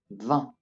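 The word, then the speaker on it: vingt: And finally, 20. Once again, 20. Notice that the J and the T are not pronounced in this case.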